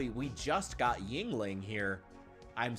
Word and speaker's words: Yuengling: I talked before about how we just got Yuengling here.